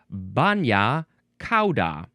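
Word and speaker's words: bagna cauda: Ah it is pronounced banya ca which means hot sauce.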